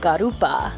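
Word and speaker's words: garoupa: the local cheeses and garupa which is how they say grouper i think we're pretty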